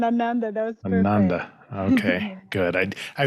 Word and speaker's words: Ananda: so first things first make sure i'm saying your name right anandor amanda the first one ananda that was okay good